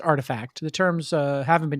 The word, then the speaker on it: RTFKT: nft studio uh pronounced artifact it's spelt rtfkt but it's pronounced artifact the terms uh haven't